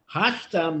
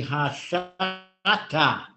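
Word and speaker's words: השתא: Hashta means to now. Now. It's really hasha'a. So the correct pronunciation of hashta is really hashata.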